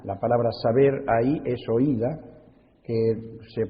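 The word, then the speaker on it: οἶδα: del texto original la palabra saber ahí es oida que se pronuncia ida o se debe pronunciar ida y es un conocimiento completo total cuando uno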